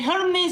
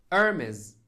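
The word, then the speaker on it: Hermès: ايش مشتري من هرمز؟ ايش مشتري من هرمز؟ النطق العربي ضد النطق الإنجليزي. هيرمس، أرمز، حرف الH صامت. أرمز.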